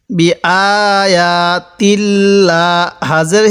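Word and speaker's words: بِآيَاتِ اللَّهِ: আর এই আল্লাহ শব্দের লামের পূর্বে জবর থাকার কারণে আমি এই লামটিকে মোটা করে পড়ছি। বি আয়াতিল্লা, হাজের হি, বি আয়াতিল্লাহি, বি আয়াতিল্লাহি।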